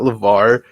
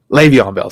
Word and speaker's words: Le'Veon Bell: can't say his name not levar le'veon bell sorry belle is coming